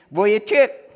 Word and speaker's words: Vujicic: Paano ba i-pronounce yan? Vujicic.